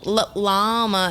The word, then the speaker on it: llama: say their names because llama is spelled with two L's at the beginning they all have names with two L's as well but the second l in llama is silent you don't pronounce it it is not Little